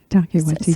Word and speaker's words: Taika Waititi: It's also one of let me make sure I'm pronouncing it, Taiki Waititi's. Taika Waititi, So yeah.